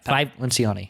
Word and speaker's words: Lencioni: Lencioni? Yeah, Lencioni.